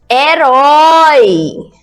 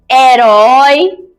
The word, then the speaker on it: herói: Herói, hélice, habilidade, harpa, hotel, helicóptero. Uhul! Senhor risadinha. Agora vamos separar a frase. A letra H no início da palavra não é pronunciada.